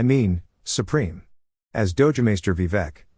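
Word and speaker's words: Vivek: Supreme as doam maer vivec rhymes with we wake writes the Supreme Court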